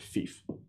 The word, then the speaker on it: fief: And that's the correct pronunciation of the word fief. There's a fairly common pronunciation of that word, which we won't utter so we don't get confused, but that's pronounced fief.